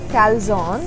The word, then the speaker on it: calzone: Okay, so basically this is pronounced as calzone, and this is the Italian based folded pizza, oven baked pizza.